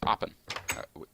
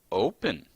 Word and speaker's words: open: I have a spawn shop, which is Tanks Bakes, which is oppen. Oppen? Really? Did I just say oppen? Tanks Bakes is open. That's how you pronounce that word.